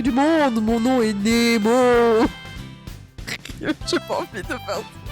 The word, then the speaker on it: Nemo: Ouais, ça se prononce Nemo. C'est exact.